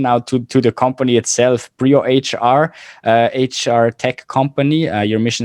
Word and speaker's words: BrioHR: Again, it's BrioHR, not Brio. But maybe you can elaborate on that one, because it's a good idea behind that. yeah, actually, so the pronunciation itself, we are fairly okay and used to both. So Brio, we are not very particular about it.